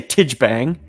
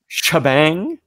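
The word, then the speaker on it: T'Jbang: No one really has decided on the canonic pronunciation of his name, but as a child I used to say Tijbang, but I believe Shabang.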